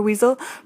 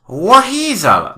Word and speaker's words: WHeasel: It's pronounced WHeasel, Dr. Garland. No, I don't think so. There's no H in weasel. The H is silent. It doesn't matter. It's just not spelt like that. Look here, my dear. I know how to spell my own name. I spell it with an H, and I pronounce it WHeasel.